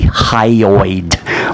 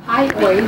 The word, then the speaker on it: hyoid: is we are the high bone H higho think of the mint Altoid so what is the hyoid bone well like your lawyers it's something what is it Miss for is it am I pronouncing it wrong hyoid is correct hyoid thank you what